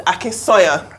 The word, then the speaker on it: Akinsanya: You know, when you grow up in different countries, there are always people who aren't familiar with your name, but now it's Akinsanya.